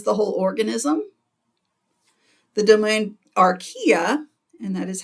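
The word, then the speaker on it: Archaea: cell can is the whole organism the domain Aria and that is how you pronounce it is also consists of unicellular organisms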